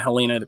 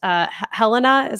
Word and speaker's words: Helena: Apparently, there's been a lot of controversy about Helena. Am I saying it right? Yeah, about Helena.